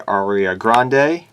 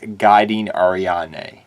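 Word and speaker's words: Guiding Ariadne: three aria grande uh yeah you heard me say that right aria grande that's what i've i initially pronounced this card as back in the day i know it's guiding ariane i understand that what it's called but forgive me if i slip up and say aria grande because i've literally called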